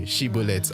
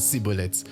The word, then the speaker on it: Shibboleth: And the way they would know is by just using one particular word that those on the east can only pronounce it a certain way, Shibboleth and Sibboleth.